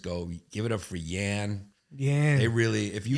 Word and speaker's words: Yannis: It's in America, it's Giannis or Yiannis or if I'm doing a black show like they just go, "Give it up for Yan."